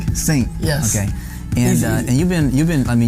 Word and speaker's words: Singh: Singh. Singh.